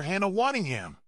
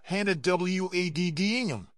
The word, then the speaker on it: Hannah Waddingham: Waddingham also had a moment of playful defiance when Mike Bloomberg mispronounced her name, calling her Hannah Waddingham. Taking the stage, she corrected him with a smile, "Hannah Waddingham.